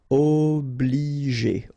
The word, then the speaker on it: Obliger: Okay, remember when you get G and after that the vowel E, then you pronounce it J. Okay, and then here, well, R at the end, as usual, you pronounce it E, G.